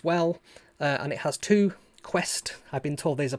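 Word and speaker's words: Qwiic: under lighting as well and it has two quest i've been told these are pronounced connectors which you know adafruit use quite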